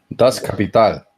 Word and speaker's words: Das Kapital: Teoría que fue defendida en el libro, los 3 tomos de Das Kapital, lo pronuncié bien, Johannes, ¿o no? Das Kapital.